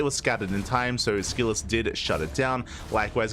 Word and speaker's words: SKillous: I say SKillous, but I just ignore the O, I guess.